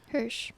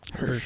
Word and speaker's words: Hirsch: did a video for is it pronounced Hirsch or Harsh? Hirsch. Hirsch. Or Horsch? Yeah, Hirsch. Okay, like a Mhm. Hershey, but okay. like Herschel. I Like think. Herschel. Oh, okay. Herschel. It's short for Herschel.